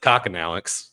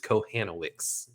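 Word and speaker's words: Kochanowicz: I said Kokonowicz, and it's I was informed that it is Kohanowicz or something along those lines, but the C is silent. We will we'll remember that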